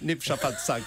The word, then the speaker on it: Népszabadság: Vous avez compris la façon dont j'ai prononcé Népszabadság.